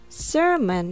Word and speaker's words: sermon: a sound a samon sermon has the letter R sound seron summon has the